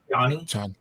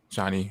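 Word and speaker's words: Chani: I believe it's pronounced Johnny. Johnny, yeah.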